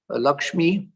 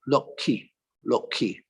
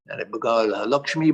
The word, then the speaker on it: Lakshmi: bengali you know that in bengali lakshmi is pronounced loki the sh and the m disappear lakshmi becomes loki and so sister nivedita